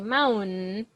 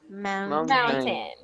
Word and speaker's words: mountain: Now, some people pronounce the T-A-I-N part with a nose, with a nasal sound.